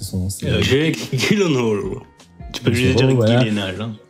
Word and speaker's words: Gyllenhaal: Gosling, t'as Jack Gyllenhaal, je sais jamais comment prononcer son nom. Jake Gyllenhaal.